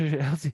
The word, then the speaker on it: algae: So I was like LJ, like LL Cool J, Algae.